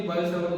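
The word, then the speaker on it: Biot-Savart: ये आपका simply बायो-सावर्ट लॉ होता है। T साइलेंट होते हैं, ये T और T दोनों साइलेंट ही होते हैं।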